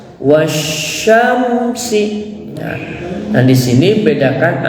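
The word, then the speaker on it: والشمس: disebut dengan idgam sysiah jadi cara membacanya itu ditekan dulu was ya baru Syam wasyamsi ya Nah di sini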